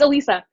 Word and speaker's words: Alyssa: ready so okay first I tell you it's Alisa I know it's dumb